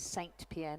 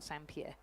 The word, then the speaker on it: Saint Pierre: the World Championships but evidently it is Saint Pierre not sampier so I've been using the French pronunciation as did Sarah Cook